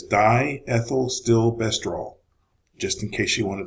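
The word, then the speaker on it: diethylstilbestrol: chemical name for DES it is die ethyl still bester all just in case you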